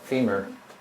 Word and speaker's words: femur: It rhymes with the bone in your leg, femur.